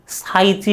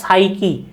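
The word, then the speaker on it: psyche: আচ্ছা, এই যে এই ওয়ার্ডটা তোমরা অনেকে ভুল উচ্চারণ করো, অনেকে সাইচি বলো বা এক একজন এক এক ভাবে বলো। এইটার ইংরেজি হলো উচ্চারণ কি? এটার উচ্চারণ হলো সাইকি।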